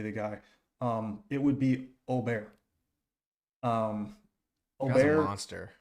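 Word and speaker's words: Åberg: Austin Eckroat, Nick Dunlap, Eric Cole, Wyndham Clark, and Akshay and Ludwig Aubert is actually how you say his name.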